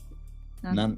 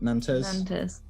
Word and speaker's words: Nantes: Nantes. Nantes. Nantes, I think it's pronounced. Right, okay. Yeah, not spelled Nonce. I should point out.